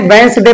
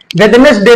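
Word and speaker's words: Wednesday: हमारा होता है ये जैसे वेदस डे लिखा होता है ना लेकिन भी साइलेंट पढ़ते हैं यहां कोई रूल जो है फॉलो अप नहीं किया गया है तो इसको क्यों साले पढ़े इसको पढ़ते हैं वस डे पढ़ते हैं वेनेस डे नहीं पढ़ते हैं ऐसे ही हम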